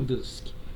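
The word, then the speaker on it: Durski: Madeiro Júnior Dursky, Júnior Dursky. Não é Husky, não, é Dursky, né?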